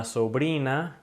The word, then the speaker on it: sobrina: the word la sobrina, notice that the R sound is just one R sound. The tongue's basically doing this, okay? It's not going to continuously be rolling on the roof of your mouth like you would if it were a double R.